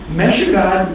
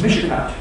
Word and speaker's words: Michigan: Meshugan is the proper pronunciation of what Europeans mispronounce as Michigan.